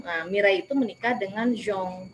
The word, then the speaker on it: Jean: mirei itu menikah dengan zong ya itu cara membaca bahasa Prancisnya ya Jean itu zong ya mirei Nah itu